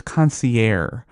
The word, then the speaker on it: concierge: most often it was concierge at em they were silencing the G thinking that was the French pronunciation so there's my list